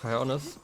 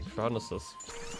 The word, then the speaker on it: Cryonis: I can't actually pronounce it properly because I always want to add like more nisses in there. Like instead of cryonis, I just want to say cryonises.